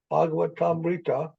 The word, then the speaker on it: Bhagavatamrita: Bhagavatamrita. Here's the word Amrita, it's at the end, and Bhagavat, Bhagavat Amrita.